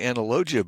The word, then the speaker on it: analogia: people to pronounce it I would say analogia but there's you know there's analog and there's logic and the the G is different but it's the same